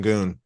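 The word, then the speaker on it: Şengün: Sagin. That's how you pronounce his last name. Shenun. Shenun.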